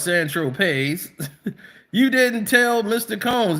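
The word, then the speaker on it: Saint-Tropez: So when you bought eight balls of Coke on San Tropes, pronounced San Tropes, you didn't tell Mr.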